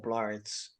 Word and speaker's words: Blart: have to call Paul Blart because it rhymes with Paul fart like you know they